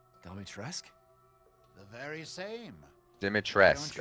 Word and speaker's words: Dimitrescu: Dimitrescu, okay, that's how you say it.